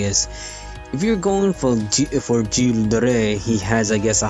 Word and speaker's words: Gilles de Rais: The other servants are 3-stars, which again, Giles or Gilles de Rais, I believe you pronounce his name like that.